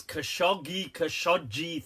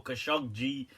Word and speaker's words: Khashoggi: Well, what's going down with this Khashoggi thing, or Khashoggi? A few ways to pronounce his name, right?